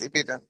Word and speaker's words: Ibidun: Is it Ibidun or Ibidun? How am I How am I to pronounce it? You pronounce it quite perfect. Ibidun. Yes. Ibidon.